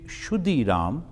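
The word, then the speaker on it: Kshudiram: m and actual pronunciation should be shudiram but in bengali they say khudi the father chandramani is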